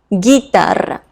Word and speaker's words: guitarra: Guitarra. And U becomes silent, remember. Same for this word, guerra, guerra.